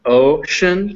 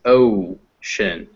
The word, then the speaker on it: ocean: it's like that because the sound is not ocean it's oh shin when you make that vowel that o sound you should you've never